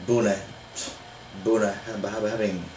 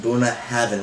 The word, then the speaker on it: Bunnahabhain: bad boy here uh we're going to do buna heaven now it looks like boone having it looks weird but you know there's that right there now but it's pronounced buna heaven with a v doing a heaven okay now